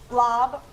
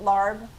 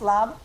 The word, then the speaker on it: larb: Lob, I always called it larb because it's spelled a l a rb, but it's pronounced lab.